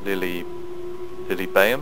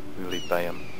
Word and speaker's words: Lilybaeum: the war to Carthage and defeat this city, Lilybaeum. I think that's how you pronounce it, Lilybaeum.